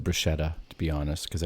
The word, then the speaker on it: bruschetta: i don't think i was ordering bruschetta on the plane but somehow you got talked